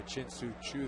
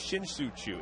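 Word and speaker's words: Shin-Soo Choo: lot of national recog Well, not if you say his name like that. Yeah. I mean, well, see, there you go. Let's hear it again. It's Shinsu Chu.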